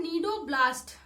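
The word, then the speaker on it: cnidoblast: तो आज से पूछा जा रहा है नीडोब्लास्ट, ठीक है। स्पेशली सी साइलेंट रहता है।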